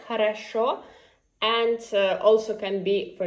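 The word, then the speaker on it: хорошо: Um for example, I told you "khorosho", which is well. Right? "khorosho" "khorosho" and also can be, for example, "khata".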